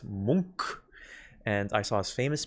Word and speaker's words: Munch: Fun fact, apparently it's pronounced Munch.